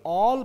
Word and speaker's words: all: तो ये ऑल पढ़ा जाएगा, ना कि आल।